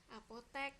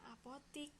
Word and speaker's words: apotek: apotik atau Apotek nah tulisannya yang benar itu adalah Apotek walaupun kita bacanya apotik begitu Oke selanjutnya nah ini